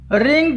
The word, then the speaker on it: wring: रिंग, रंग, रंग। WRING, इसको रिंग बोलेंगे, इसमें W साइलेंट है।